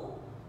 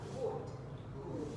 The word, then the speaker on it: wood: Từ này nhiều bạn học là úp. Khi mà bắt đầu một cái từ trong tiếng Anh mới đó, đáp lưu ấy, thì chúng ta sẽ về phải bắt đầu là tròn môn là wood.